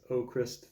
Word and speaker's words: Avkrvst: vowels in there but the v's are supposed to be like U's so it's ochrist they made it really